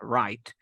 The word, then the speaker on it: Wright: la pronunciación aquí es la W nunca suena es como right derecha wright siguiente grupo aquí te he